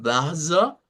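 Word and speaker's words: Wasser: De hecho, la R se olvida en esta parte y nos aparece un sonido de A media. Esta pronunciación, que sería como baza, baza, es una pronunciación de lo que conocemos como el alemán nativo hablante.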